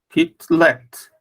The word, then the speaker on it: Kitlet: Como é que lê? Kitlet, né? Esse Shiva não vai pronunciar. Kitlet.